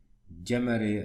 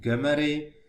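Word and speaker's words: Gömöri: united states and so you maybe can find his name with another pronunciation like gemmary and so on but the original is hungarian pronunciation gamery and his impregnation is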